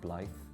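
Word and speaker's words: Blaidd: So you pronounce it Blythe, not Blythe, not Blythe, Blythe.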